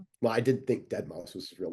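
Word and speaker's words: Deadmau5: Is uh is dead mouse EDM? Yes. Yep. Is that even how you pronounce it?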